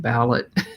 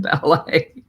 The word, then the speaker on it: ballet: And so I was dictating it, and for some crazy reason, I pronounced it ballot instead of ballet.